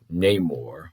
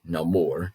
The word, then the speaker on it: Namor: It is merely Namor, or Namor, depending on the pronunciation, the Submariner, is the one who keeps interfering.